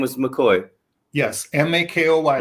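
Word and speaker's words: Makoy: say his name was mccoy yes m-a-k-o-y like a real mccoy but it's spelled m-a-k-o-y um and his middle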